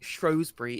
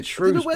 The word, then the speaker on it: Shrewsbury: Also, like nobody calls Shrewsbury Shrosbury in Shrewsbury. Yeah, Shrewsbury. I don't know where that pronunciation came from.